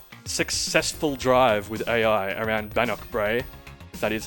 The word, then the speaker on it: Bannochbrae: there you go successful drive with AI around bannockbrae that is how you pronounce it um look as I said no